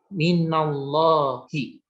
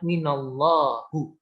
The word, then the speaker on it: minallahi: Nah, ketemu huruf jar di depannya, maka wajib kata setelah huruf jar akhirnya itu menjadi kasroh minallahi. Jadi bukan bacanya minallahu atau minallaha. Itu salah. Dia wajib kasroh ketika ketemu huruf jar.